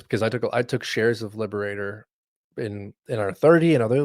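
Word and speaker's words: Liberatore: Liberator. Liberator.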